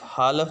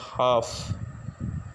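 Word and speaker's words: half: इसी तरह ही इससे जो नेक्स्ट वर्ड है वो है एच ए एल एफ, हालफ नहीं इसको पढ़ेंगे, बल्कि इसकी जो करेक्ट प्रोनाउंसिएशन है वो है हाफ, एल इसमें भी साइलेंट है।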